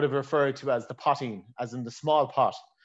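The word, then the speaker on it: poitín: So the Irish pronunciation would be potting. You'd hear some people say potting, you'd hear some people say putching, but potting would be the actual kind of pronunciation of it.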